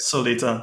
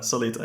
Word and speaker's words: Solita: what is it called Solita you say the name I didn't ask you how to say it Solita Solita yeah Solita okay it says like it reads so um I'm really